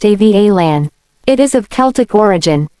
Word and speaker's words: Avalon: The Bump says, Avalon as a girl's name is pronounced Avalan.